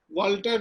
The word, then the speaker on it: Walter: तो पहले हम चर्चा करते हैं वाल्टर Benjamin. वाल्टर Benjamin German रचनाकार, विचारक हैं और उच्चारण के संदर्भ में बेंजामिन को बेंजामिन भी लोग कहते हैं, BENJAMIN। वाल्टर तो खैर वाल्टर ही होता है, WALTER।